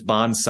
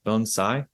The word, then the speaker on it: bonsai: it's very key because there's Bonsai I hear that a lot um I haven't really paid attention to how you say it Carmen but I've been taught bonai bonai yeah and so I've